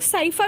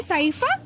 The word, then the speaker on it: Scypha: अब तीनों को देखो, जो साइकन है, साइकन को हम लोग साइफा भी कहते हैं, SCYPHA, साइकन।